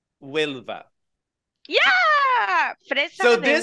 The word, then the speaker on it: Huelva: Okay, say it so I can pronounce it. Huelva. Huelva.